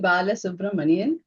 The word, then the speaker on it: Balasubramanian: She's going to pronounce her last name for us. Yeah, it's Balasubramanian.